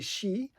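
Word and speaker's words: Shi: Because I would have said Psy, but it's actually She.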